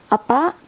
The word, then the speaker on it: apa: You have to say it with this pronounce apa, apa.